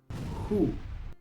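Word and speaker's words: who: Muchos pronuncian esta palabra U, aunque normalmente la W se pronuncia u, pero aquí en esta palabra la W es muda. Así que la H se pronuncia como J y la O se pronuncia u. Hu.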